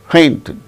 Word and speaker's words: painted: it want want paint painted plant planted plant tid no fainted no the stress shall not be on the last syllable the stress should be only on the first syllable want painted planted similarly